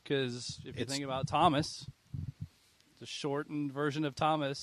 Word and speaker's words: Thom: We're not pronouncing the H when we say Thomas.